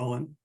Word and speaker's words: Ogham: And he used the letters of the Ogham, or Owen, you can pronounce it both ways, to make this calendar.